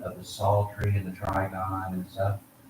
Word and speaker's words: psaltery: And in the end of Daniel, middle of Daniel, when Nebuchadnezzar has the sound of the psaltery and the trigon and stuff, one preacher pronounced it peasel tree.